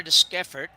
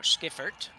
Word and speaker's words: Deschiffart: So Emma Deschiffart now, Skiffert, I think is how we figured out we pronounce this.